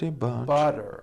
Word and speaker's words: butter: Remember, all the T's are pronounced as D's because they fall between vowels. Betty bought a bit of better butter.